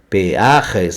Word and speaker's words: peajes: Então, Portugal, portagens, Brasil, pedágios, mas em espanhol é peajes. Peajes, atento como se escreve e como se fala o microfone aqui, peajes.